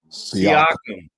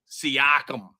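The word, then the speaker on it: Siakam: Seakum. Seakum.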